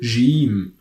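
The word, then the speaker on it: جيم: usually your pronounces gene as I told you like in George are also like if you are saying giant for example gene gene but in the world game game in English this is a pronunciation or that we use in the Arabic dialect of Cairo or of Alexandria for example so gene gene is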